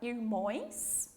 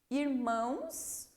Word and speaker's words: irmãos: Então, de irmão vai para irmões, irmãos ou irmãs. Qual dessas três será que vai ficar melhor? Pense um pouquinho lá. Vou falar novamente. Irmões, irmãos ou irmãs? Irmãos. É a pronúncia e a escrita correta.